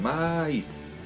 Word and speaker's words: maíz: Miren, maíz debería de ser una sola sílaba, pero como vemos que la I tiene una tilde, la separamos entonces en maíz.